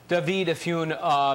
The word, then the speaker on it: Dovid Efune: I want to say so many thanks to Dovid Efune, Managing Director of Algemeiner. Did I pronounce that correctly?